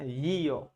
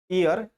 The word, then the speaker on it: year: year. You do not pronounce this word ear. This is here, not ear. If you pronounce this word ear, you will have to use article n there.